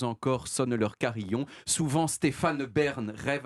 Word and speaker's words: Stéphane: Si je mets Stéphane Bern dans un alexandrin, en tout cas, si je suis psychorigide au niveau de l'alexandrin, je suis obligé de prononcer le E de Stéphane et donc de dire Stéphane Bern.